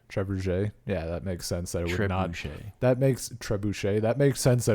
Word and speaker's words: trebuchet: Trebuchet? Trebuchet. Yeah, that makes sense that it would not. That makes trebuchet. That makes sense that it would not be pronounced even remotely fucking close to how it's spelled.